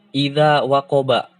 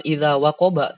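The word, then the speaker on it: إِذَا وَقَبَ: Contoh gini, ya, idza waqoba. Kita bacanya ketika waqaf bukan idza waqoba, tapi idza waqob.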